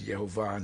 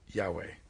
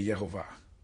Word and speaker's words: Yehovah: were every single time the vowel points put the pronunciation as yahovah not Yahweh every single time so that's why I say yehovah and again he was